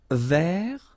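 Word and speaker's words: vert: Feminine rou remember rou ver so masculine form don't pronounce the final T ver feminine form ver so listen carefully I don't say t but it's t ver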